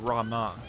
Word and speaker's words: Ramuh: So here they actually pronounce Ramuh Rama.